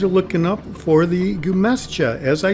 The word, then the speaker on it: Gremyashchy: what Bing Translator tells me the name is pronounced as. Gremyashchy. The Russian translation to English, Gremyashchy, means reverberating.